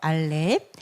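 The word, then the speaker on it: אלף: 알렙이고 이거는 이응 소리입니다. 그래서 묵음에 해당되죠. 알렙.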